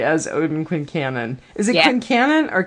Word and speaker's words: Quincannon: Is it Quincannon or Kincannon? Because I've heard both. I think Kincannon's probably Southern, and we're Yanks, so... okay. Yeah. I'm good with that. We pronounce the Q.